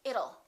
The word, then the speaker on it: it'll: sound don't say it let's change that t into a fast D and say it'll it'll rain it'll be hot it'll be nice it rhymes with the word little we don't say little we say little it little that's a hard